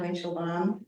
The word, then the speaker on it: Winchel: us um I'm winchel my name name is a little bit hard to pronounce but it sounds the way it looks um she her and